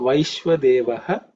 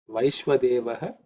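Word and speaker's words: वैश्वदेवः: In terms of pronunciation, it should be pretty simple. There are no aspirated sounds. So Vaishwadevaha cha me. Vaishwadevaha cha me is the mantra. So let's look at Vaishwadevaha.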